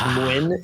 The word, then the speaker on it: Mlynczak: So it's Mwyn is how you say it. in Mwyn, Polish. like a W. Mlynczak.